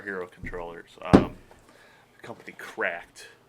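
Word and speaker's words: CRKD: Um the company Cracked. Uh CR KD is how it's spelled. Spells cracked apparently.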